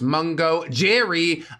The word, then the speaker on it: Mungo Jerry: Yes, that is pronounced Mungo Jerry.